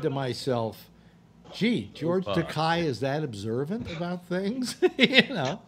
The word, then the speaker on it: Takei: the way though it's it's pronounced Takei as in to pay but it I thought